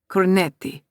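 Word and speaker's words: cornetti: Corneti, he corrects. I'm Italian princess and not French. Coretti, I say, testing the word out.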